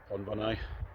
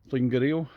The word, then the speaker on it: Llwyngwril: I actually had to bail out about a mile or two before Llwyngwril.